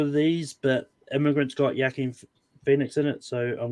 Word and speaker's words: Joaquin: I believe The Immigrant is a Joaquin Phoenix movie. Joaquin.